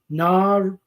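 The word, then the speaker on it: nārīṇām: the Sanskrit word is narinam. 3 long vowels there. Narinam. How common is that? You see a 3-syllable word where each syllable is a long vowel.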